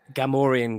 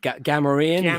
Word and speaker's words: Gamorrean: But also, Ryan Byrne, the guy who he hates the way we pronounce BOE. Gamorrean guard. Gamorrean.